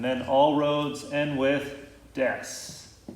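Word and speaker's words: です: And then all roads end with des. Even though it looks like desu, it's pronounced des.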